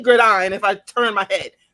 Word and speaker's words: Godine: And then I want to say Gordine, and it's like, no, it's Gordine. I can only say Gordine if I turn my head.